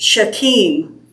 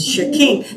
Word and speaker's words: Shechem: It's Terah, it's Haran, it's Shechem. It's where they went, I always called it Shechem, Yeah. southern East Tennessee, but it's Shechem. But they almost always put the emphasis on the second syllable.